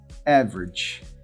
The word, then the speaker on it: average: Average. Nós temos aqui 2 sílabas. A primeira sílaba é a forte, é.